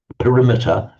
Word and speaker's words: perimeter: The perimeter, which we pronounce as perimeter, means the around measure.